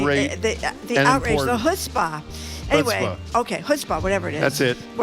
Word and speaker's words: chutzpah: the chutzpah.